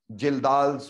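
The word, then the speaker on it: Kjeldahl: बेटा कि नाइट्रोजन के एस्टिमेशन में हम यूज किया करते हैं जिल्दाल्स मेथड। जिल्दाल्स मेथड बेटा के साइलेंट है, देखने में ऐसा लगता है खज्जल्स मेथड है ना, सच में खज्जल कर देने वाला मेथड है।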